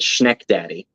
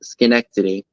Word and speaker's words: Schenectady: by General Electric in Schenectady, New York. And I only know how to pronounce that from Mary, a Reclaimed Treasures by Mary. I would have pronounced it Schneckdaddy. So it says Schenectady. It's like me pronouncing Greenwich Village, Greenwick Village.